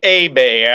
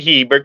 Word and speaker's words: Hebert: First of all, I'd like to correct you that the name is actually Hebert. I can understand why you say Hebert because that is, in all fairness, how it is spelled.